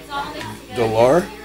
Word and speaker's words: d'Aulaire: I'm here with yeah how do you pronounce my last name dolar that's pretty good over here Daler delenn are you at the lair yeah de lair are you French I know is that French